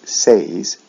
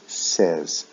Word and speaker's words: says: with the s form we don't say says we say says short e e sound the last